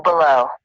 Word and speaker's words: below: I am Blow below. Blow and below. Blow and below. blow and below, right? Like believe, behind, or anything start with B-E, like this we pronounce like ba, like ba, below.